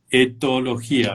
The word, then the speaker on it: etología: Si la pronuncio bien es etología, ¿verdad? O etología. Sí.